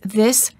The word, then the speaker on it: this: Make sure that you're not pronouncing the words this and these the same. The word this is singular and is pronounced with the short I sound and a s.